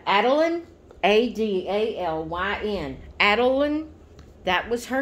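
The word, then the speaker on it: Adalyn: paper is if I can say it right Adeline a-d-a-l-y-n Adeline that was her name on the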